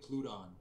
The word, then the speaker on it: Pluton: Is it Poluton? The guy. Well, actually, it's like a Greek god of the underworld. Oh yeah. So it's like Pluton.